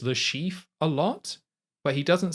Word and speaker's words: Le Chiffre: the modern Casino Royale, it's a French name, so you'd be like Le Chiffre and you wouldn't really put the R on.